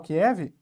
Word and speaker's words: Kyiv: A gente pronuncia Kiev, mas eu acho que é Kyiv mesmo que se pronuncia, e aqui está a usina nuclear de Chernobyl, vou dar um zoom aqui.